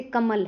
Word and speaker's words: कमल: जैसे कमल है, नगर है। इन शब्दों में म और ग पे ज्यादा जोर दिया जाता है।